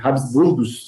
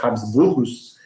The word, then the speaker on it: Habsburgos: Até, na verdade, a Primeira Guerra Mundial, em 1918, quando a dinastia, acho que Habsburgos, né? Acho que essa é a pronúncia mais correta, Habsburgos, ela é desfeita, né?